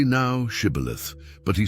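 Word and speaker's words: Shibboleth: Then they said to him, "Say now, Shibith." But he said, "Caleith," for he could not pronounce it correctly.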